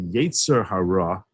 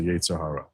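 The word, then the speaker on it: יצר הרע: The more Americanized Orthodox Jews would say Yetzer Hara, but the proper pronunciation, which you'll never hear most American Orthodox Jews say, is Yetzer Hara, but they'll say Yetzer Hara.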